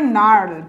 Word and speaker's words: gnarled: নার্লড, এটার উচ্চারণ হচ্ছে GNARLED, উচ্চারণ হবে নার্লড, ঠিক আছে, জিটা উজ্জ থাকবে।